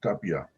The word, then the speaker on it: Tapia: and and by the way that's where you pronounce it mr edmund tapia now the second part of his testimony that